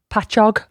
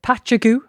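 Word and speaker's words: Patchogue: Yeah, it's actually patchog. Pog patchog. But, uh, some people pronounce this patchu.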